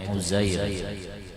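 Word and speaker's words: عزير: Qila, dikata, Auhallahu ta'ala, Allah memberikan wahyu ila Uzair, bacanya itu Uzair, Uzair an-Nabi, jadi Nabi Uzair alaihi salam.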